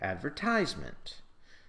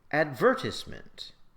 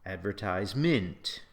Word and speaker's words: advertisement: For example, if I ask you to pronounce this word, well, if you're an American, you'll say advertisement. And if you're British, you'll say advertisement. But you will never say advertisement.